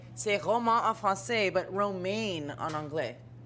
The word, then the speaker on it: Romain: roman en français, but romaine en anglais? It's actually romain and romaine. It's really the exact same thing. Roman? No, romain.